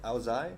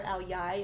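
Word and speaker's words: áo dài: Aozai? Aozai or Aoyai. It's spelled Aodai, but I There, still call now it you I'll learned die something.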